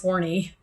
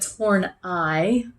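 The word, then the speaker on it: Horney: and I know her name looks like it's horny but torn I sounds pronounced poor thing that think you have a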